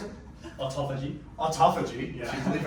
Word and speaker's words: autophagy: and you really believe in how do you pronounce it? Autophagy.